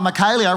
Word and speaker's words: Michaelia: They're like, oh, Michaelia rhymes with Australia. It's like, yeah, it also rhymes with failure, so let's ease up a bit.